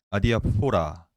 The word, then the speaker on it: 아디아포라: 오늘 주제는 이 기독교 윤리에서 대단히 많이 쓰이는 표현, 용어, 개념인 아디아포라, 아디아포라라고 불러야 되겠죠. 아디아포라는 아니고 포라가 아니라 포라입니다. 포라. 왜냐면 이 발음 어원상.